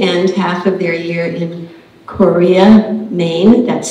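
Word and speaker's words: Corea: They spend half of their year in Monterey and half of their year in Korea, Maine. That's spelled C-O-R-E-A, and it's another lovely town on the north coast of Maine, sort of north of Bar Harbor.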